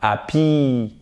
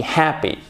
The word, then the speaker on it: happy: Donc, verbe être, par exemple, to be happy, happy, et pas happy. Non, to be happy. À court et accent tonique ici, ok?